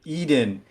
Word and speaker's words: Eden: All right, production has just informed me I am pronouncing it incorrectly. Eden is how we're going to be referring to Godset's arena.